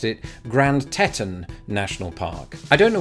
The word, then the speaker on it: Grand Teton: know this in the United States it's actually pronounced Grand Teton there's actually quite a lude way to remember